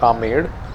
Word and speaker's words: Amber: or the armed fort it's spelled as amber or umber but it's called ahmed so yeah from